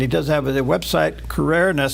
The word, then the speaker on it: Crouere: All right, welcome back, and a delight to have back with us today Jeff Carrere.